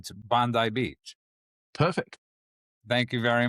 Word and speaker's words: Bondi: But So I wanna, so it's Bondi Beach.